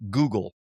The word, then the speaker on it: Guggul: The herb is called Guggul, pronounced just like the search engine, but spelled differently.